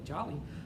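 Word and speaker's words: Joly: the earth's history but jolie i hope i'm pronouncing it right j-o-l-y jolie jolly jewel that's not jolie it's jolie jolly all right um 150 million years so we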